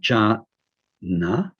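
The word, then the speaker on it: jñāna: words as in jhana this is sort of a ja sound ganasan ja sound which means knowing knowing in the sense of knowing directly aware of something so when we say ja na primordial awareness when we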